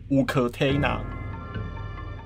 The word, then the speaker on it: Uktena: 乌克泰纳。